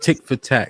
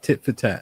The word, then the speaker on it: tit for tat: So, it's just tick for tat. Is that how you say it? Tit for tat.